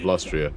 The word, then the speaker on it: Lustria: There's there's a brief history of the of um of Lustria. And yeah, you have to pronounce it like that or you're not pronouncing it right.